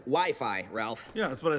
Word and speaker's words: Wi-Fi: crazy to imagine a life without internet now wiffy it's actually pronounced Wi-Fi Ralph yeah that's what I said okay Sonic